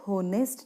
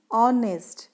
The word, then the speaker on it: honest: हम लोग होनेस्ट नहीं कहते हैं, इसमें H साइलेंट होता है. हम लोग क्या प्रोनाउंस करते हैं ऑनेस्ट.